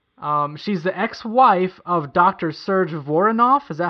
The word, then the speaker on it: Serge Voronoff: Serge Voronoff.